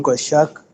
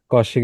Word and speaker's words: Koshik: Go shark. Is it is it a right pronunciation of your name? Koshik. Koshik is the right one.